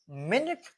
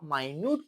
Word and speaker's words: minute: बट जब आप इसको मिनट प्रोनाउंस करते हो तो फिर उसका मीनिंग होता है यूनिट ऑफ टाइम, लेकिन जब इसे आप माइन्यूट प्रोनाउंस करते हो तो माइन्यूट इज वेरी स्मॉल.